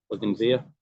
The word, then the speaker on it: bougainvillea: You don't pronounce the L at the end. Bougainvillea.